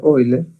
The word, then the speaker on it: Euler: relación de hoy leer se escribe euler se pronuncia hoy ley que establece un puente